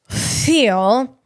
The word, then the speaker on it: Thiel: So space welding is, I mean, that's exciting to me because Peter Thiel, I'll pronounce his name correctly, Peter Thiel, he has a program called the Thiel Fellowship Program.